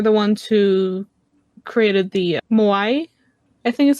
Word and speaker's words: Moai: people, and they're the ones who created the Moai. I think is how it's pronounced. I could Yeah. butcher that. I'm sorry if Yeah. I put it. No, you said it right. You said it the right. Moai.